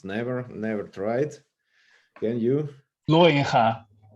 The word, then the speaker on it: Looijenga: Looijenga is the correct Dutch Bravo.